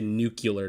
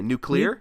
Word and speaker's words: nuclear: say that word again you don't get to say new killer to me what do you say nuclear nuclear I say how it's pronounced what the [ __